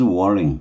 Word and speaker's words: whirling: Whales whirling. 보통 H는 잘 발음 안 하죠.